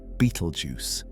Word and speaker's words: Betelgeuse: The name eventually became corrupted into Betelgeuse, though some prefer the pronunciation Betelgeuse, which has led to its own cultural associations.